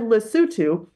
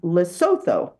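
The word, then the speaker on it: Lesotho: of the speech because he said lutu which most Americans might pronounce as loto right course I've been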